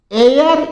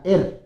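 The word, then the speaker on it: heir: तो इसमें एच हमेशा साइलेंट रहेगा। या तो आप इसको एयर बोलोगे या एर बोलोगे। ध्यान रख लेना।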